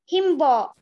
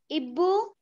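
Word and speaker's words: hibou: Himbo. Not himbo. I told also in the class when I explained. In French, if your word is beginning with letter H, then H will be silent. Ibu.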